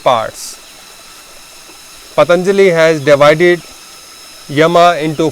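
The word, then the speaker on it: यम: So first is Yam. In English people call it Yama, but I will use the authentic Sanskrit terminology or authentic Sanskrit pronunciation, so you will be familiar with that as well. Yam is number 1. Second is Niyam. In English it's called Niyama.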